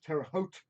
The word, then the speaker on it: Terre Haute: It's located in between Terre Haute. Is that how you pronounce it? Terre Haute. Terre Haute Yes.